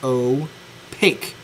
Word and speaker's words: opaque: look at, which is called opaque, pronounced opaque. P A ke opaque.